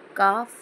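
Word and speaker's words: calf: कवचाला पायाच्या फ म्हणतात काफ म्हणजे वासरू एल सायलेंट आहे एफ च्या जागीवी घेतलेला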